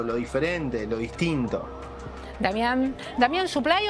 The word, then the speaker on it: Supply: Damián, ¿Suplay o Suplé? ¿Cómo se pronuncia tu apellido? Me da lo mismo, pero está bien, Damián Suplay está bien.